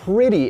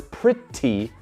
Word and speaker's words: pretty: Lo pronuncia con algo que se llama el flap T, donde pretty, esa T, no se pronuncia como t. No es pretty, es pretty. Es igual que la R en un montón de palabras en español.